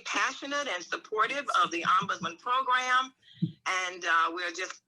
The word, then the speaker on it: ombudsman: care now the word ombudsman is really a very funny word sounding word and uh it just simply means it's a swedish word and so it's pronounced ombudsman and it simply means